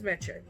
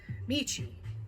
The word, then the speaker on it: Meche: So in order for them to pronounce it correctly, I tell everybody it rhymes with leche.